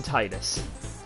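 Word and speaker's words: Tidus: I call him Titus I used to call him tetus because that was how it was officially pronounced but once the creator of the creator of Final Fantasy 10 came out and said that it's basically up to whatever you want to call him I call him Titus because it just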